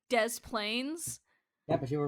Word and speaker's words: Des Plaines: It is Des Plaines. I guess Criminal Minds gets one right this time. The worst one. Hey, Illinois! Why are you pronounced like that, but Des Plaines is pronounced all of it?